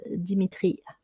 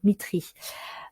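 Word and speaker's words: Dmitri: sur le chimiste russe Dimitri alors c'est plutôt Mitry je vais essayer de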